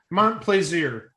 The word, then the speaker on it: Montplaisir: 3 separate tiebreaker clues had to be played before Chris Montplaisir's. Oh, that's a difficult name to pronounce. Montplaisir.